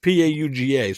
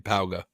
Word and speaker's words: Pauga: just pronouncing it the way it's spelled to me, but it could be pig, but it's Pauga, so I'm saying Pauga.